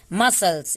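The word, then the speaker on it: muscles: मसल्स, इसको भी हम लोग मसल्स पढ़ते हैं, बुक्स में भी हम लोग पढ़ चुके हैं, मसल्स बोलते हैं, लेकिन मस्कल्स क्यों नहीं बोलते हैं? क्योंकि सी साइलेंट है यहाँ पे, तो इसको हम बोलेंगे मसल्स, मसल्स।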